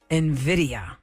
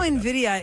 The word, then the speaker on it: Nvidia: seem to pronounce and this Tech Giant uh is spelled NV d i a nvida Nvidia Nvidia Nvidia and the problem with what's their